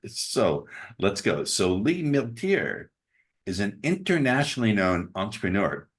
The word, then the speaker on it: Milteer: guest today Lee Lee how do you say your last name Miler Miler Lee Miler is so